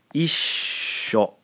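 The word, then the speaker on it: issho: So let me pronounce it for you, i-sho. Isho, isho, isho. You hear the long sound for the S here?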